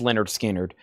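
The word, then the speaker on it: Lynyrd Skynyrd: And Leonard Skard, pronounced Leonard Skard, 40 uh $64.99.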